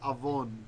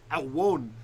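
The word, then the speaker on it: עון: You're very close because the ancient pronunciation would have been awon, which is actually close to how you're saying it. So you're not even that far off from the original.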